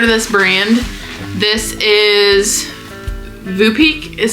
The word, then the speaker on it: Voopeak: So, if you haven't heard of this brand, this is Vupek is how you say that.